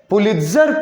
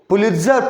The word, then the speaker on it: पुलित्जर: बहुत जगह इसको ना टी जो वर्ड है उसको साइलेंट करके भी बहुत सारा लोग इसको प्रोनाउंस करता है, पुलित्जर प्राइज। टी को साइलेंट कर देगा, इसका स्पेलिंग देख लो, टी लगा हुआ है ना, उसको नहीं बोलेगा, नहीं के बराबर।